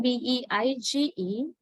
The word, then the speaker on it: beige: The next word, B-E-I-G-E, pronounced as beige, beige, j, beige, right? J is the final consonant. J.